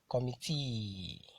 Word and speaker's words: committee: Polysyllabic words that end with EE, QUE, ERE, ADE, ESE, ETTE, and NOON are usually stressed on the ultimate syllable. Ultimate syllable, that is the last syllable in a word.